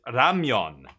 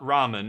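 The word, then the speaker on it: ramyeon: over there so it's in Korea it's Ramon it's not Ramen it's Ramon and if you pronounce it the other way people will correct you and it's like oh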